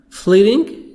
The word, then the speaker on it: fleeting: Fleeting, T soft D. Fleeting.